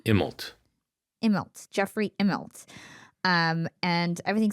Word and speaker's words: Immelt: Immelt.